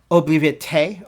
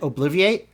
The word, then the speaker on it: Obliviate: So they said Obliviate, okay? I pronounce it Obliviate, like from the Harry Potter spell, all right?